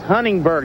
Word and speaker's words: Huntingburg: you like about it you need to pronounce Huntingburg not huntingburger good that was great